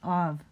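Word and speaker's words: אב: Av, father. Alf, bet. Pronounce av. Remember I told you that kind of hybrid B sound? Kind of B, kind of V.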